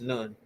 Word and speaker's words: Nun: River can be attached to Nu or Noon, which is now pronounced Nun.